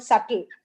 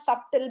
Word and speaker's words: subtle: I always think, earlier I don't know how to pronounce this word subtle. Okay, because SUB comes, I used to pronounce subtle, but then I learned it is not subtle, but it is subtle.